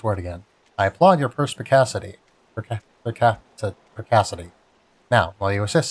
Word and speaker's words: perspicacity: I don't know if that's a soft C or a hard C. Right, it's represented in IAPA with a K. So I'm guessing that's a hard C. So perspicacity.